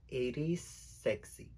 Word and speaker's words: Iris XC: Iris XC, que su nombre de drag en realidad se pronuncia Iris Sexy. Ella eligió ese nombre drag porque también su nombre es Javier Carreto. Las letras X y C también representan su nombre.